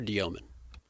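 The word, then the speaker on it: Demin: What is it now? Dioman. Yegor Dioman. There's no O in there.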